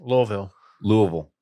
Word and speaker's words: Louisville: Louisville.